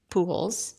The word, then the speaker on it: Pujols: from my wife, Deirdre Pujols. Deirdre, Pujol. friend of the pod. Friend of the pod. Yeah, the J is kind of silent. I'm learning that.